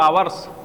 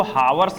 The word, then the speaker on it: hours: आई had been playing for 2 hours, ठीक है, फॉर 2 hours। देखिए इसको हावर्स मत पढ़िएगा, यह साइलेंट रहता है, ठीक है।